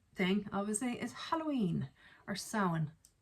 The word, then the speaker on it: Samhain: Another Irish thing, obviously, is Halloween or Samhain. Not Samhain, according to feckin', what was it, the Halloween movies, Samhain.